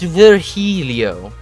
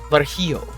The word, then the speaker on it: Virgilio: It's pronounced Virgilio. My bad. Virgilio. No, I'm pretty sure it's Virgilio.